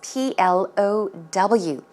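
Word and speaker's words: plough: from under the ground plow is spelt two different ways like this PL o ugh or as PL o W for they're pronounced the same way plow plow so snow plows are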